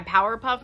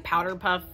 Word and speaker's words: Powerpuff: If you guys are ready to get into the last part of my Powerpuff Girls, and yes, I was saying Powderpuff this whole time. I didn't realize I was saying it wrong, but honestly, it could